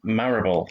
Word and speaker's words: Marable: in the community, Marable. Now, I've pronounced your last name right there, have I? Yep, you got it spot on there. Yeah, it's not Marable or anything like that. Marable.